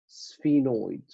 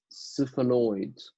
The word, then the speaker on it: sphenoid: it's my sphenoid bone sphenoid sphenoid sphenoid sphenoid sphenoid all right so this is my sphenoid bone some people will pronounce it SIF annoyed all right so so